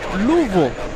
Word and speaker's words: Louisville: There's an interesting way of saying Louisville. Louisville. It's It's not really three syllables. It's like two and a half. So, we have Red Shadow Kick. It says the locals say Louv.